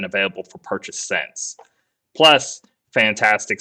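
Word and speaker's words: Fntastic: So it's spelled weird. You're not supposed to say fantastic, but it's basically fantastic just without That's the what I A. hear everyone say. Yeah. Yes, it's just, yeah, we're just going to stick with fantastic in the pronunciation. Just know the A is missing.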